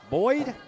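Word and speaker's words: Boide: here is Brook Boyd had to ask the coach how you pronounced that last name CU he doesn't spell it like he would normally spell boy how is it spelled b o i d e looks like boey yeah so I asked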